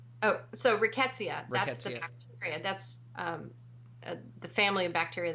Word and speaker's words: Rickettsia: a trip in that one virus I may pronounce it wrong is it called Rica SETI Oh so Rickettsia that's the family a bacteria that causes Rocky